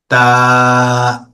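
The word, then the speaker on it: ت: জিহ্বার আগা উপরের দুই দাঁতের গোড়াতে লাগবে। তা।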